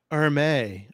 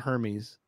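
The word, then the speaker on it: Hermès: heard those yeah coach Erma I know how to say it right it's not Hermes or May so it's a Chris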